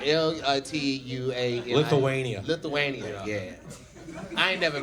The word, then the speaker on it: Lithuania: Lithuania.